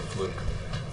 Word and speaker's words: Fluke: University law student uh Sandra uh fluk I think is actually how you pronounce it um because uh he